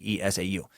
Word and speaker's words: Esau: juan wrote master soccer the name you were struggling with is esau that's at e SI au excuse me es au it's pronounced esau it's a weird-ass word